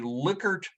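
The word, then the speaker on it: Likert: ask you we are going to create a liquor scale of political beliefs liquor is spelled l-i-k-e-r-t and although you may not recognize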